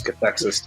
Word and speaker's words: Cathexis: You just gotta remember it rhymes. Cathexis, Texas.